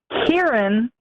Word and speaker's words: Kieran: my name which is Kieran oh okay so you're cute Erin chest sure sure okay yes the first syllable rhymes with beer cheer okay Kieran Sheppard okay